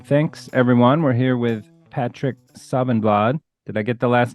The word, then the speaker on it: Patrik Safvenblad: I would say Patrik Safvenblad. So it's kind Close of similar, but the vowel sounds are quite different in Swedish.